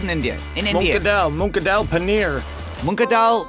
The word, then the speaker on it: paneer: Monadal paneer. Paneer.